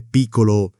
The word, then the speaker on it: piccolo: Piccolo non è piccolo, è piccolo, 2 C che si sentono.